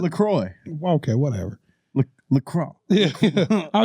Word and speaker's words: LaCroix: drinks what i'm calling the cups water lacrosse okay i said it right now no you didn't i was no i hate you i thought i had it right does it look what is it lacroix okay whatever look lacrosse